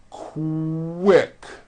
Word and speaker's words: quick: So, for example, the word quick is pronounced with a K and a strong W sound. Quick, like that.